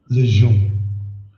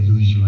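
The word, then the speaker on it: Louijeune: Lejeune. Yes, I always say Lejeune, and it's just not that.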